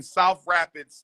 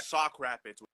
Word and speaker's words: Sauk Rapids: So there's a rapid full of coons in Minnesota, but you are in South Rapids, Minnesota, right? Sauk Rapids with an S.